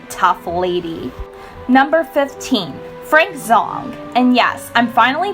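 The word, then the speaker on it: Zhang: Number 15, Frank Zhong. And yes, I'm finally pronouncing his name correctly too.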